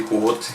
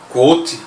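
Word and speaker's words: Kvothe: Quoth, ou a pronúncia é um pouco mais Quoth, né? Você não fala o último ele é claramente o alter ego de um super nerd.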